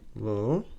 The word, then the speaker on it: L'Hôpital: So, L'Hôpital you pronounce it as L'Hôpital Pee Tal, like this.